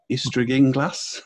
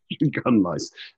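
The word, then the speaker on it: Ystradgynlais: times I go to it, I still cannot pronounce it. Ystradinglas, and I've Ystradgunlais. Ystradgunlais.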